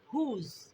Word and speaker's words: whose: W जब भी यहाँ होगा तो हम इसको साइलेंट करेंगे, ठीक है। हुज, तो हुज का मायने है किसका।